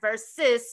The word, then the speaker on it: Ver-Sis: Ver-Sis, like sis, because these are my sisters.